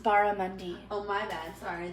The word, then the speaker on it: barramundi: barramundi let me know how it is it's pronounced barramundi oh my bad sorry it's okay i've never